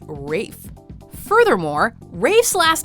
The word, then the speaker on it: Ralph: but this is no Ralph as the English actors name is Rafe furthermore Rafe's last name